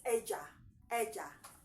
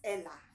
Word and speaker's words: ella: We pronounce it as Eja. Though under normal circumstance, I would read it as Ella.